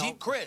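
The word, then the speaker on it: Geep Chryst: But Colin Kaepernick, the quarterback, has an offensive coordinator in Jeep Christ. I believe that's how you pronounce his name. Right. It's G-E-E-P, No, Jeep Christ.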